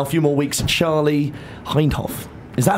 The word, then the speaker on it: Hindhaugh: more months now, a few more weeks, Charlie Hindhaugh. Is that how you say it, Charlie? It's deceptively spelt. That's it, Hindhaugh.